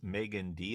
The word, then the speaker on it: Meaghan Dee: we are again and we have with us Megan D and did I pronounce that correctly yes you did all right